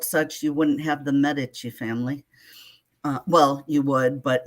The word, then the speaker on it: Medici: Medici. She's very specific on how the last name is pronounced.